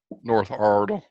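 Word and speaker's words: Iredell: Ardell high school guy North Ardell yep that's how you say it hey I've got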